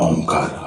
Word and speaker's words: ओम: ओ और उ शब्द पर हंठ खुले रहेंगे। म शब्द पर हंठ बंद हो गए।